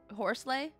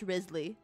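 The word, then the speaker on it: Wriothesley: Risley? Why the hell is it spelled like that if it is pronounced Risley?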